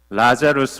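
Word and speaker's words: Lazarus: 이 말씀을 이렇게 준비하면서 나사로 라고 하는 이름 어 라자루스 라고 하는 영어식 발음은 그렇게 되는데 이 이름을 쓰면 어떨까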